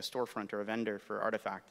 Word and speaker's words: RTFKT: studios is doing um for those of you that pronounce it wrong rtfkt it's actually artifact um i'm wearing the